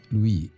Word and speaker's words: Louis: We have to, yes, it's pronounced as Louis.